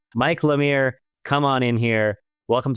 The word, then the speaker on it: Lemire: Lamir as in come here. So, I want to say Mike Lamir, come on in here.